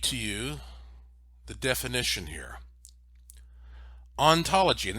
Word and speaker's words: ontology: you the definition here ontology and this is spelled o in like the word on ontology is the philosophical study